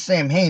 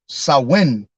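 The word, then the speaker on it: Samhain: but however you say that word it says Sam hey the way I'm SP but it's I guess it's a win the way it's pronounced sauwin all right it says as the most significant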